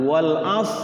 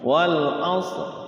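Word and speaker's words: والعصر: Wal as gitu ya. Rnya dalam hati. Kalau dalam hati mah tidak diucapkan ya harus bunyi. Wal asr. Rnya bunyi r.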